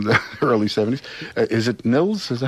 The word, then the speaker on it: Nils: on the radio, but I started off by calling you Nils, because I knew some people of Scandinavian descent who pronounce it Nils, and I had people like, no, it's Nils, man, it's Nils, I know him.